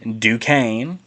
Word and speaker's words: Duquesne: I have Illinois over Duquesne. I pronounced it correctly this time.